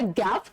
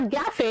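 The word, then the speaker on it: gaffe: The five words are गैफ। अह अह do take a note of the pronunciation. It's नॉट गैफे, इट्स गैफ।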